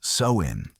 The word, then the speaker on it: Samhain: They called it Samhain, pronounced so-in.